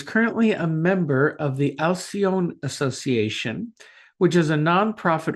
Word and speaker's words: Alcione: Is it the Alcione? Uh, Alcione. Alcione. Alcione Yes.